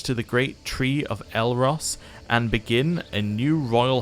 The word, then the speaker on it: Elros: be a scion of eldross all right or elros i should say i think it added in an extra syllable a new house for